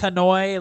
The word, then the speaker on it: Hanoi: So it's pronounced Hanoi, like joy and soy.